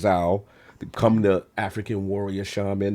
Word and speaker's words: Zau: So for me, Tales of Kinsera, ZAU, I pronounce Zao, come the African warrior shaman.